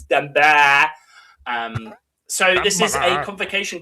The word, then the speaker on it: Damballah: It's pronounced as Damballah.